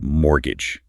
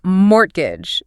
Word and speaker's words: mortgage: For fluency, it's mortgage with a silent t. Crucial point. Avoid saying mortgage.